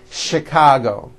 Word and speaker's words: Chicago: are a couple of words that are spelled with ch and are also pronounced with the sh sound words like chef and the city of chicago okay having said that